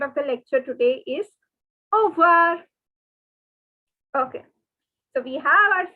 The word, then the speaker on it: au revoir: So see, when you see the two words, they are together pronounced as au revoir. But since the French people say it so quickly that all we can hear is au revoir. So you will also say it like au revoir.